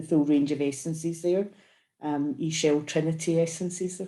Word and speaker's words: Ixchel: E-Shell Trinity essences they're called, which is another strange one, but explained by, it was the goddess E-Shell, which is spelled Ixchel, but she was adamant that the